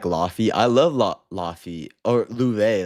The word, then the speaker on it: Laufey: Or Louve, that's how you pronounce her name, right? Because she's Icelandic.